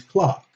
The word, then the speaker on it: clerk: And then clerk, empleado, dependiente, clerk, which in the UK they pronounce clock. Okay, this E spelling changes to an A pronunciation.